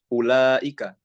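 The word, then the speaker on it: أولئك: Begitu juga misalkan huruf yang dia tapi tidak dibaca, yaitu huruf waw di lafaz ulaika. Nah, kalau kita membacanya sesuai dengan yang tertulis, maka niscaya bacaan tersebut menjadi ulaika. Tapi ini salah.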